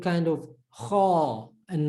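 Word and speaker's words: خ: speaking Afrikaans, the letter Kha is already in your vocabulary. You can already pronounce this letter. There we go. It's like the G in Afrikaans, like geld.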